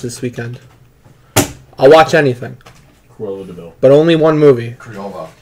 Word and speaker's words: Cruella de Vil: Crayola de Vil. Cruella de Vil. You're saying the name wrong.